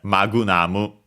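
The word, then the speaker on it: マグナム: Uh yeah, magunamu in Japanese simply with the usual additional uh for the consonants that can stay on their own.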